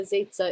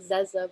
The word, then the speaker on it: Zezza: well first of all i love that you pronounced my name correctly it's a hard one uh yeah zaitza it looks like zesa but it's safe um i am on a